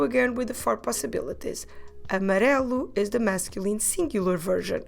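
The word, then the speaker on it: amarelo: here we go again with the four possibilities amarelu is the masculine singular version of the word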